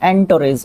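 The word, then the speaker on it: entourage: एंटोरेज। अभी सही प्रोनाउंसिएशन आया है।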